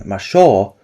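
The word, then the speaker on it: ましょう: So, the word kyo would be written as kefu in kana, and the declarative ending masho was written as masei yu.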